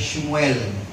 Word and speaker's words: Shmuel: ang kanyang Ano po ang pronunciation niya ay shmuel shmuel Y na ang ibig sabihin